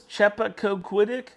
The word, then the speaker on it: Chappaquiddick: He got Senator Ted Kennedy's car went off a bridge in, how do you pronounce this? Chappaquiddick Island. Chappaquiddick.